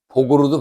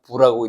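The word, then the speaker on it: 復: 금을 연주하다 이렇게 되고 요거 복으로도 발음이 되지만 부라고 읽었습니다 복으로 읽으면 회복한다는 뜻이고 부라고 읽으면 또다시 다시 더욱 이렇게 해석이 되는 글자입니다 여기 다시라 뜻을 가지고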